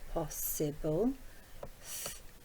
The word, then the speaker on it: possible: This is a silent E here. Possible.